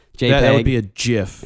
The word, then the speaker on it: GIF: I know GIF is the correct pronunciation, but a lot of people still say GIF. Well, so they want to confuse people. GIF. Yeah. Which makes no sense because there's no J.